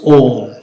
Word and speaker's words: Om: the meaning is that Om, this syllable is made of 3 letters. A, U, Ma. This syllable is made of 3 letters. A, U, Ma. And combined together, it becomes Om.